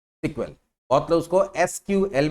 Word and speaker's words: SQL: Short form of structure query language है, एंड इट is pronounced as सीक्वेल। बहुत जगह उसको एसक्यूएल या सीक्वेल भी बोलते हैं।